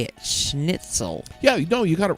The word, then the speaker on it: schnitzel: Which is the, how do you say it, schnitzel.